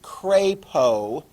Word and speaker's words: Crapo: that was pretty cool um the most senior of our the one that's been there the longest is mike crapo is how you pronounce his name correctly he's from idaho falls